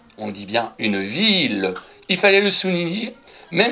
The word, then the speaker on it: ville: on avait une ville ont dit pas une vie on dit bien une ville il fallait le souligner même si c'est écrit